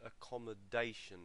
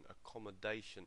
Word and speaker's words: accommodation: to look at is accommodation accommodation so the stress is actually on the fourth syllable accomodation and um and the